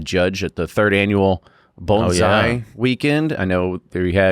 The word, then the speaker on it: bonsai: So now I know how to say it correctly. Bonesai bonesai that's how you do it.